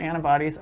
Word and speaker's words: antibodies: Your antibodies are off the scale. Your antibody는 any라고 T 발음이 약하죠?